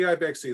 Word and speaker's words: IBIXII: We call it the IBIXII loom. It's IBIXII. And that is a mispronunciation of IB, X as in times 2.